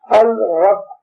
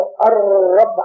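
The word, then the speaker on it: الرب: अल रब, इसका सही प्रोनाउंसिएशन जो है वो अर रब है, लाम बोला नहीं जाता, साकिन है।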